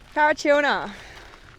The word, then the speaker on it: Parachilna: We are at Parachilna. Parachilna. Oh, chill nah, yeah.